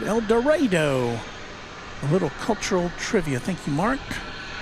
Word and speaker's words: El Dorado: Arkansas folks usually pronounce it El Dorado.